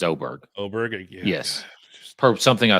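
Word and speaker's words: Åberg: I had to uncheck a couple, but it's Oberg. It is Oberg.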